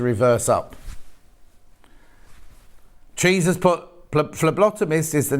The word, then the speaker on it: phlebotomist: that's lovely isn't it it's pronounced as an f phlebotomist hang on flair bottom mist thank you jill oh yes ph not p phlebotomist um well that never